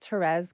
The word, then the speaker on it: Thérèse: it I said it perfect all my names terz no one can pronounce any of them I literally called an